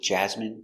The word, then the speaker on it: jasmine: famine famine and Jasmine so all of these words are pronounced with the in sound for the in turbine